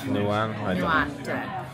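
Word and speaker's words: Nyhavn: Is it like Nian or Nian? What did you just say? Nuan.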